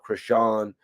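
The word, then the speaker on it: Chrisean: thing with, I believe that her name is pronounced Krishan.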